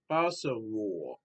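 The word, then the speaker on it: Bazawule: and is directed by Brits Bacawur, which is spelled Bacawule, Brits Bacawur.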